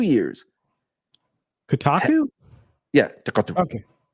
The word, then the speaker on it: Kotaku: Kotaku?